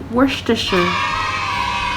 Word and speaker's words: Worcestershire: snap where sister shire but in reality and pronunciation is worcestershire of course pepper and salt but i know